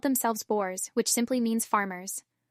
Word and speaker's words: Boer: When they moved out into the veld to escape the English, they called themselves Boers, which simply means farmers. It is pronounced Boer, by the way, as I had to learn.